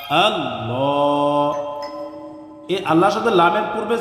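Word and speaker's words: الله: আরেকটি পেশ যোগ করলাম, তাহলে এই আল্লাহ শব্দের লামের পূর্বে যখন জবর অথবা পেশ আসবে তখন এই আল্লাহ শব্দের লামকে পুর করে অর্থাৎ মোটা করে পড়তে হবে।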